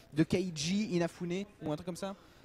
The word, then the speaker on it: Keiji Inafune: Alors, je sais pas comment ça se prononce, de Keiji Inafune ou un truc comme ça. C'est Keiji Inafune.